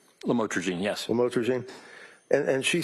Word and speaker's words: lamotrigine: the drugs, about the Lamictal, otherwise known as lamotrigine. Did I pronounce that right? Lamotrigine, yes.